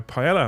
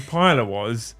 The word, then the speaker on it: paella: Is he pronouncing the L? Yeah, I'm fucking English, Mel. Paella. Not paella, not like that nonsense.